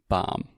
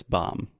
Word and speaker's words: bomb: like it is not boom it's not boom boom it's a bomb and third thing we don't pronounce the b so many times Alexia says bomb but it's bomb bomb yeah so you